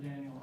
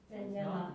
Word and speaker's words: Daniela: Daniel, followed by Lisa Marie. Did I get your name wrong? Close. Danielle. It's Daniela. I didn't write very clearly, but It's not I apologize.